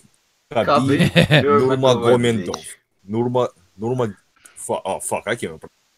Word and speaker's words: Nurmagomedov: You let the fucking Russian pronounce it. Nurmagomedov. Oh, fuck. I can't remember. Nurmagomedov.